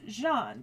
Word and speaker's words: Jeanne: say, oh, yeah, it's Jeanne. That's her actual name in French. Joan is the anglicization of it.